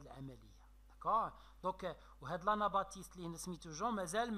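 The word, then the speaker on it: Baptiste: انا باتيست لو بي ما كتنطقش ياك كتبلع.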